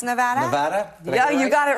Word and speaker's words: Nevada: And how do you pronounce Nevada? Nevada.